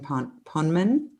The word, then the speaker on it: Poneman: Bruce Pavitt and Jonathan Poneman. Is that how you say it? Poneman. Poneman.